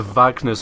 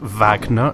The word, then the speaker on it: Wagner: our way up to Wagner's office because that's how that name is pronounced Vagner not Wagner so what can we